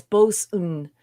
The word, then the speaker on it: boatswain: Boswin. I gotta ask my buddy who's in the Coast Guard. Yeah, and now Snortapoopus is saying it's Bosun.